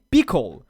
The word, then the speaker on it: Pkl: Pronuncia-se Pickle.